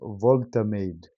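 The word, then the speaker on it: Woltemade: Nick Volterade, that's how you pronounce his name.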